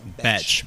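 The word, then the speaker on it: Bethe: It's So actually pronounced Betch.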